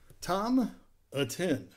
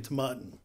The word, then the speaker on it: Tomatin: today we are having tom atten that's not how you pronounce it it's actually tamaten to mutton tomato let's